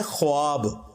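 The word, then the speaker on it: خواب: नहीं आ सकता अच्छा ये लफ्ज़ लिखने में है ख्वाब खवा वाओ अलिफ बा लेकिन पढ़ने में यह ख्वाब है वाओ साइलेंट हो जाता है ख्वाब पढ़ा जाता है यह लफ्ज उर्दू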